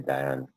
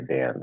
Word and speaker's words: Dayan: It's, well, if you're going to be correct in terms of origin, it would be Dayan from a accuracy perspective. But as you know, in our country, nobody ever gets their name pronounced right. So I've grown up and had everybody say Dayan. So it doesn't really matter. I answer to both.